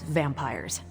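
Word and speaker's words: vampyres: Pronounced exactly the same as vampires.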